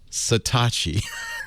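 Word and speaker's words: Satechi: on the internet s a t e c satachi she didn't tell you that she couldn't possibly have told you that's how it's pronounced of all the possible pronunciations that's not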